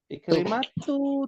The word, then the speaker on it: Ikrimah: Ikrimatu tidak bertanwin. Ya.